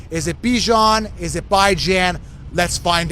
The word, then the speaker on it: Bijan: Like Dijon mustard.